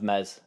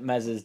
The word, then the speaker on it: Meslier: everybody's thoughts on this meslier silent s incident firstly I think it's silly of MZ uh I don't know